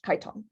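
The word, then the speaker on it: chiton: had something called a keton and here is the word here a keton sometimes pronounced Kiton which like aala was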